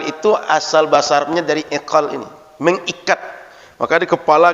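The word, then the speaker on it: عقال: Egal atau bukan? Betul? Ini berasal dari iqal, kata orang Arab. Iqal itu kalau orang Saudi bacanya egal. Karena qaf dibaca ghain.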